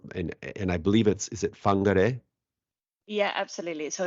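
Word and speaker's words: Whangārei: And just before we hit the record button, you were teaching me how to pronounce the place you're from, and I believe is it Whangarei?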